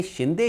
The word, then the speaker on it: शिंदे: उनका सीधा वास्ता पड़ा तो ब्रिटिश लहजे में शिंदे शब्द का उच्चारण बदल गया। अंग्रेजों के लिए शिंदे बोलना थोड़ा मुश्किल था, इसलिए उन्होंने इसे अंग्रेजी में सिंधिया लिखना शुरू कर दिया।